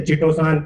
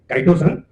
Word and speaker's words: chitosan: Some people say chitosan, chitosan. So we usually pronounce it as chitosan.